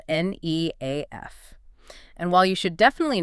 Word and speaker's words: NEAF: see the acronym spelled n e a f. And while you should definitely know the community pronounces it NEAF, yes, with a long e, I strongly prefer to use its majestical full name.